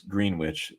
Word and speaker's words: Greenwich: And Greenwich is spelled kind of funny. It's Greenwich, it's how it's spelled.